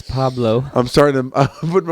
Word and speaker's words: Pablo: I said Pablo. Did you? Okay, I thought you said Paulo. That's fine. Pablo Francisco? I forgot the L. Pablo. I forgot the B. Not forgot the B. Paulo. It's Pablo.